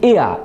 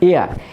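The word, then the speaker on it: heir: আর একটা আছে এইচ ই আই আর এটা হচ্ছে এয়া এইচ উচ্চারণ হবে না এয়া এই এয়া অর্থ হচ্ছে উত্তরাধিকারী।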